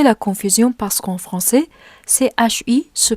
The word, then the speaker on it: ち: Mais ça peut provoquer la confusion parce qu'en français, CHI se prononce chi, n'est-ce pas? Mais en japonais, CHI se lit chi. Donc, essayons de lire cette lettre comme s'il y avait un T devant CHI.